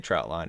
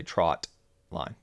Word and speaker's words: trotline: to clarify that that it is not a trout line it is a trot line yeah so this is